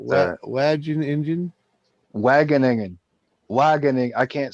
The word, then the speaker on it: Wageningen: Wageningen.